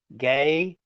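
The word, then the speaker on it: γῆ: Then we've got gay, G long E, gamma eta, gay, gaze, hey is the article.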